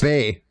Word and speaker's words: BAE: I think it's pronounced Bay.